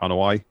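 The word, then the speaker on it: Anoa'i: who else in the on hawaii that's how you pronounce the the the name right on hawaii yeah the family would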